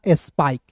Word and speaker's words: स्पाइक: जैसे दोस्तों आप देखिए एस पी आई के ई, तो देखिए एस पी को एस प पढ़ेंगे और आई के ई है तो इसका उच्चारण आई के रूप में करेंगे तो हो जाएगा स्पाइक। एक नियम बता रहा हूं